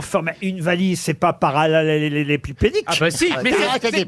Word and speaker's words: parallélépipédique: C'est pour faciliter sa manutention, voyez-vous, que l'amas est compacté en forme parallélépipédique. Ah bah dites-le vous au moins. Allez. Parallélépipédique. Non, parallélépipédique. Vous voyez, il vous manque une syllabe.